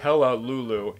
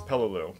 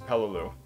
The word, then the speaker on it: Peleliu: I'm not taking sludge it's not hello Lulu its Peleliu pronounced Peleliu Wow if I actually